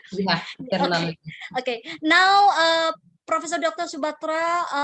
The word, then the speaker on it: Tirunelveli: And she has been awarded with PhD in Commerce from Manon Maniam Sundaranyar University to Tirunelveli. Am I pronounced correct? Yeah, Tirunelveli.